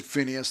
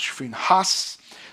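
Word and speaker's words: Phinehas: If you want to pronounce it Phineas, that's okay. But it's actually is pronounced Finhas.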